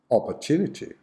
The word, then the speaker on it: opportunity: or her two native opportunity opportunity so in this case the schwa is on the second and the fourth syllabus opportunity opportunity example this